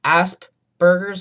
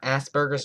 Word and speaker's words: Asperger's: It's pronounced Asperger's, not Asperger's.